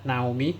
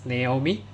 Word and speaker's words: Naomi: So many people pronounce it wrongly, so not Naomi. So this is Naomi.